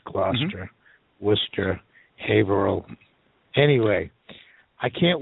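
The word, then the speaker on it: Gloucester: call it Worchester and gler glower it's gluster Wester haal anyway I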